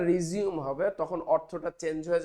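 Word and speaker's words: resume: এই যে আবার চালু করা এটাকে বলা হয় রিজিউম বানান একই উচ্চারণটা রিজিউম হবে তখন অর্থটা চেঞ্জ হয়ে যাবে এবং পার্টস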